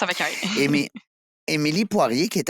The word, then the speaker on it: Émilie: prononce avec un et. Émi- Émilie Poirier, qui est à la tête d'une entreprise, ben, en fait, familiale, tu vas tout nous raconter ça, Mixo Web.